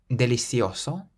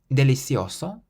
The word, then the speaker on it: delicioso: would be that they they pronounce this C like a th in Spain and they pronounce it like a s in Latin America for example delicioso delicioso or deloso delicioso so